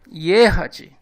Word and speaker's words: ехать: E a última palavra, ехать. A letra E terá o som duplo de duas letras, porque ela inicia a palavra e é a sílaba tônica.